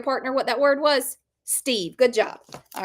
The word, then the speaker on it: Steve: No, because we learned in our lesson today that that E is silent. It doesn't make any noise on this word.